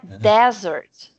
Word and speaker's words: desert: Então, a diferença tá na primeira sílaba e na sílaba tônica, porque aqui é a última. Dessert. Dessert. Aqui é desert.